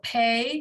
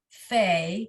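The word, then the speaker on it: פ: hold on right so pay because it has a dot in it without the dot is fey h okay ph and then and then fe so feet when it's the sophie at the end of the word it's always the ph sound okay feet perfect so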